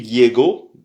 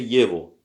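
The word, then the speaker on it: его: Alors, on dit euh on dit pas on mais on dit on on dit euh Yevo Yevo c'est écrit Yego mais c'est prononcé Yevo.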